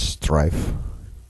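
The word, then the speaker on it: Streiff: where um Strife does I think that's how you pronounce his name. S T R E I FF. I speak German, so I'd say it's Strife.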